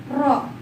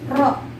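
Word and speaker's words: ρ: bila makanya seperti ini Rock di bacanya juga bukan p ya kalau misalnya nulisnya mirip kayak dia bukan p bukan panjang tapi rok hanya mirip aja tapi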